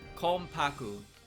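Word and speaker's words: Konpaku: context regarding her characteristic bear in mind that the N is an M sound yeah for Kaku this is because it flows more smoothly in Japanese when it's before a p sound k paku k paku yomu not K paku yomu I think I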